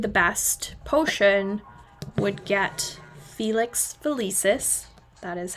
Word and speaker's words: Felix Felicis: So whoever made the best potion would get Felix Felicis, that is how you say it, as a prize.